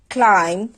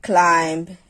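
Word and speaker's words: climb: যেমন শব্দের শেষে যদি এমবি থাকে তাহলে সেক্ষেত্রে শেষের যে বিটা থাকবে সেটাকে উচ্চারণ করতে হবে না বা সেটা উচ্চারিত হবে না। যেমন আমরা যদি কিছু এক্সাম্পল দেখি বম ক্লাইম ল্যাম থাম।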